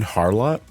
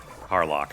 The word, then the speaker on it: Harlock: an older anime Captain Harlot Harlock Harlock sorry I thought you were like mispronouncing Harlot for a second I was like oh